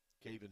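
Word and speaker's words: Kavien: Caven spells his first name K-A-V-I-E-N, but pronounced Caven.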